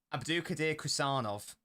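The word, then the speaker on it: Abdukodir Khusanov: Abdulkadir Kusanov.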